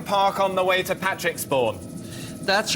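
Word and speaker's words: Patrixbourne: Now, there is a village called Patrick, spelt with an X. Well, I'm just looking at Patricksbourne, here we are, 101.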